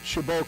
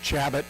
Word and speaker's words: Chabot: I honest to God did not know how to pronounce shabo I thought it was Chabot I thought it was shabat I had no idea but anyway they call